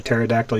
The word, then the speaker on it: pterodactyl: you can't hear a pterodactyl using the bathroom because the p is silent hey be careful if